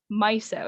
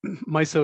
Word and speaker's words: MISO: abbreviated it's spelled like miso but it's actually pronounced myo is that right yeah that's right my so it is and um you know there's a